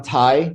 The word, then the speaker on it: Thai: knows me as tai t-h-a-i that's because obviously it's easier to say but my full name is yeah but in thailand h is silent so it's you know